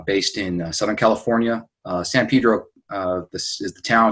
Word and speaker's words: Pedro: Pedro, pronounced Pedro as opposed to San Pedro, the way that you could tell the townies from the out-of-towners.